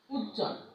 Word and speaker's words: উজ্জ্বল: যেমন দেখো, উজ্জ্বল, উজ্জ্বল, উজ্জ্বল, আমরা কিন্তু এই বটা উচ্চারণ করছি না।